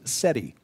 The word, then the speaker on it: SETI: study of extraterrestrial intelligence the acronyms for both essentially are pronounced seti yes set was the